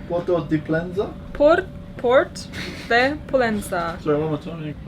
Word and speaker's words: Port de Pollença: Port de Pollença. Porto de Pollença?